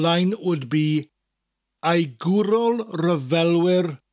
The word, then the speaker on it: ryfelwyr: Ai gwrol ryfelwyr. Ai gwrol. Gwrol. Ryfelwyr. Ryfel. Rhymes with fel. Wyr. Ryfelwyr.